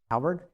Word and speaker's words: halberd: Halberd.